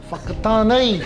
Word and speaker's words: Whakatane: This isn't a question, but what's the correct pronunciation of your hometown? Oh. Whakatane.